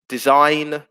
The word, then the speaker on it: design: with a silent e design there's a silent g there autumn uh where